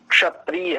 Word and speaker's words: क्षत्रिय: अब जैसे शब्द होता है ब्राह्मण क्षत्रिय, ऐसा, तो ये छ क्षत्रिय नहीं है, छकार नहीं है, ये श संयुक्त वर्ण है। इसका शुद्ध उच्चारण क्षत्रिय ऐसा होना चाहिए, जैसे कक्षा इस रूप में।